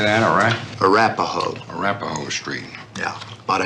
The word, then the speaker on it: Arapahoe: Arapahoe.